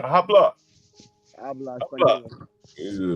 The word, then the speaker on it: habla: Habla. Habla español. This is a motherfucker said to me. Let's see. H is silent. Habla.